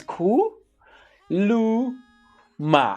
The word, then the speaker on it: kuluma: how you say it how you pronounce it is cool ma and i know there